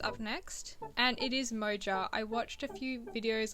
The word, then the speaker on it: Moja: Spanish J sound like moha and it really threw me off I thought I was saying it wrong but it's moja as it's spelled Mo moja but it